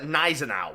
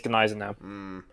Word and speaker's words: Gneisenau: So yeah, and she always called it Gneisenau. I don't know. But the German correct pronunciation is Gneisenau.